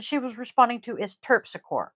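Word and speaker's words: Terpsichore: was responding to is tur Tor m t e r p s i c h o r e tpic cor exactly how it's spelled it's Greek she's white and this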